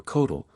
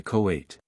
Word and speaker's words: Coatl: And hence twins, among the Mexicans, are called Cohutl or Coatl, which is corrupted in the pronunciation by the vulgar into Coate.